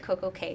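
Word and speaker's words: CocoCay: you haven't been to perfect day um at CoCo K is that how you say it is it Coco K perfect day or perfect day at C the perfect day at CoCo K the perfect day at CoCo K okay got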